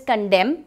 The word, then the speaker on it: condemn: pronunciation ध्यान से सुनिएगा इट्स कंटेंट जिसमें एंड साइलेंट है वेरी इंपॉर्टेंट पॉइंट क्योंकि